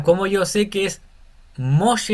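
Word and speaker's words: משה: mem mos la g que está aquí no se pronuncia porque esal entonces no sería mosj sería moshe mos entonces tenemos un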